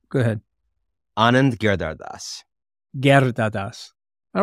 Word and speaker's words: Anand Giridharadas: Well, how would you pronounce the name? Go ahead. Anand Giridharadas.